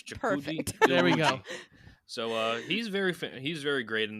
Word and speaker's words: Iwuji: on his Wikipedia page, like it has like a pronunciation. So we'll go right here. Chukudi. Iwuji. Okay, so it's Chikuji Perfect. There we go. Iwuji.